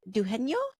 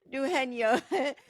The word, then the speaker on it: Dugenio: the last part of your name is it dueno yes very Dr dueno thank you so much for being on the